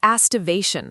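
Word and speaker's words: aestivation: The astivation hypothesis. Yeah, quite the resonant phrase for the poets, rhymes with hippopotamus.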